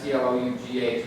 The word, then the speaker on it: Clough: That's how you pronounce C-L-O-U-G-H, Clough.